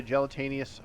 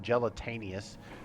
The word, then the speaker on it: gelatinous: And the idea behind the gelatinous or gelatinous cube, I'm probably saying it wrong. Gelatinous cube, not gelataneous.